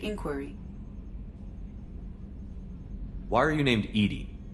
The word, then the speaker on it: EDI: yes Shepard I want to know more about you do you have a specific inquiry why are you named Edie Edie is the phonetic pronunciation of EDI that is an acronym